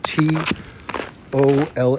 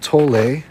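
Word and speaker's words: Tolle: anything by eart tall that's t o l l e e pronounced tol not tole it's a German pronunciation eart to and you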